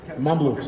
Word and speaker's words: Mamluks: Mamluks.